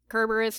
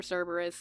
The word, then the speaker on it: Cerberus: And Kerberos or Cerberus, it depends on who you pronounce it.